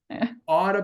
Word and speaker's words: ought to: Mm, Okay, when we pronounce it, we say oughta, oughta, oughta, oughta be oughta, prohibited, oughta be ought.